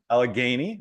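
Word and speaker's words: Allegheny: University I think I pronounced that did I pronounce that correctly I think you're good Matt okay good Al aleni College alany yeah alany okay and Albright College all in Pennsylvania um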